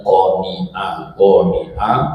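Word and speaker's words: قانعة: Jadi jangan sampai salah baca, bacanya qani'ah, masdarnya qanu'an atau qanaatan, itu maknanya ridho atau rela.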